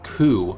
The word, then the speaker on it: Qu: I think Quina is a comic relief character done right, where Quina is a member of the species called the Ku, spelled Q-U, who are kind of gourmands in their own right.